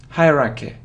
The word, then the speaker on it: hierarchy: so you see that the main stress is on the first syllable hurricane hierarchy hierarchy hierarchy but it